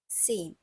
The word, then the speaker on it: zehn: And then we have sieben, acht, neun, and finally we have zehn. So Z has a bit of TS sound in it. That's why it's pronounced as zehn.